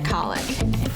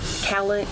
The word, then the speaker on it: cowlick: - We call it cowlick. - It's from a cow that licks you.